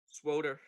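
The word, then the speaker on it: SWTOR: You say SWOTOR? Swoter. But it's not spelled that way. There's no extra O.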